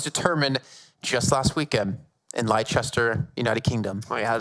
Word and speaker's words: Leicester: And the final spot was determined just last weekend in Leicester, United Kingdom. Oh, you had to say or like as normal people say, Leicester.